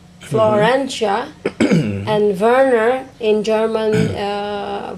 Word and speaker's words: Werner: We combine it from my name, Florentia, and Werner in German. Werner, actually it is pronounced silent V for W in Germany.